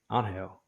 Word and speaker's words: Angel: Angel. Now we It's got name Angel.